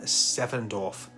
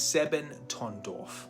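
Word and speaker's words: Sebottendorf: The society was founded by a man named Rudolf von Sevendorf, and I'm going to say that name wrong. It's Sebentondorf, a mystic adventurer, a Freemason, deeply obsessed with Sufism, astrology, alchemy, and runic magic.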